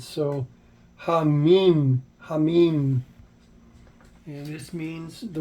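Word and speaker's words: המים: So this would be pronounced as the He gets a breath sound, a H. The Mem is a M, Yod is a I, and the Mem is an M sound. So Hamim, Hamim.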